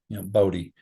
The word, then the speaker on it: Bodie: And I named him Bodie because I wanted readers, even in the North, when they say his name, to have just a slight southern drawl to it, Bodhi.